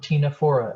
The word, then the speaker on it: Ctenophora: going to talk about phylum Ctenophora, another one with a silent C.